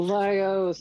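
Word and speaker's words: Laios: I don't know how to pronounce it. Losios.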